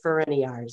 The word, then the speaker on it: Farinaris: Madam Chair, you're not the first to mispronounce that last name. It's Farinaris, so thank you.